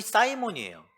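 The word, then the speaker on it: Simon: 시몬의 영어 발음이 사이몬이에요.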